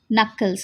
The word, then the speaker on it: knuckles: Knuckles, here students, the K is silent, the first K is silent, you have to pronounce knuckles.